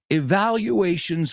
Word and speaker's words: evaluation: And then Finnerty says, evaluations from your senior officers. Valoraciones, evaluations. La U se pronuncia como you, like community.